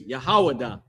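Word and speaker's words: יהודה: That how you pronounce that in Hebrew is Yahawadah.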